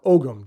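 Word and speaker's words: Ogham: but it is actually an ancient celtic language called om or ogum depending on whose pronunciation you follow you actually read it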